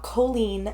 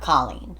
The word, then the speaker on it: Colleen: and Order SVU and it's colen not Colleen correct I had to like do that um note in my story so I could like remember to say it right cuz yes it's very easy to say Colleen okay um it was